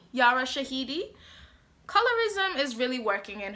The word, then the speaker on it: Yara Shahidi: do not like zoe um yara hashid is that how you say her name yara shahidi yara shahidi colorism is really working